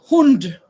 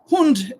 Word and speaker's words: Hund: Hund. But I I pronounce it differently. Hund is the German word for which animal? H U N D. Dog. Sam, you're right. Hund. In Norwegian, we say hun.